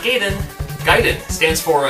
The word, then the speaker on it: Gaiden: It's Gaiden. Ninja Gaiden. It's not Gaiden.